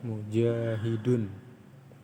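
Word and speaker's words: مجاهدون: Kenapa ini dibaca mu? Kenapa enggak mi? Kenapa enggak ma? Karena patokannya seperti itu. Nanti ada disebutkan patokan-patokan lagi. Ini bacanya adalah mujahidun, yang artinya adalah orang yang berjihad.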